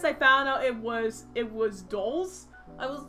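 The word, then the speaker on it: dhole: dogs, I think, called, Doles. And it's spelled D-H-O-L-E. And my brain, when I was recording my lines, decided to, instead of calling them Doles, I'd call them D-Holes.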